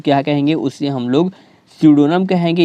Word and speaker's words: pseudonym: उसे हम लोग स्यूडोनम कहेंगे। यहाँ पर जो पी है दोस्तों, ये पी क्या है? साइलेंट है।